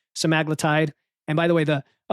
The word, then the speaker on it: semaglutide: And he said, it's pronounced semaglutide. I don't know if you agree with that, but a lot of people say semaglutide.